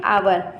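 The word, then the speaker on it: hour: हमने आपको बताया था एच के बाद कोई ए ई आई ओ यू वोवेल्स आता है एच साइलेंट हो जाता है। यह प्रोनाउंसिएशन के रूल होते हैं। यहां पर हमें पढ़ते हैं आवर।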